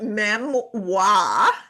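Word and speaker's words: Memwah: And so you're also doing a little side project these days and it's a podcast and it's called it's pronounced me wa m e m e m w a h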